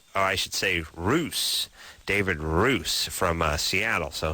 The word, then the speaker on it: Russ: our MIT professor over there in Boston David Russ I should save ruse david ruse from Seattle so he'll be coming